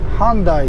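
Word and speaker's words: Hyundai: ねよいしょヒュンダイは英語でハンダイて言いますちなみにホンダもハンダーっていますだからパッと聞いただけじゃねわかんないんですよね発音がとても似てますホダとヒュンダイ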